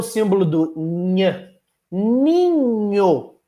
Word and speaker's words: ninho: Vejam, para fazer ninho, eu uso 5 letras, mas na pronúncia, na, i, nha, o, ninho. Ué, tem um som a menos em comparação às letras. Claro, NH representa um dígrafo. 2 letras, mas apenas um som.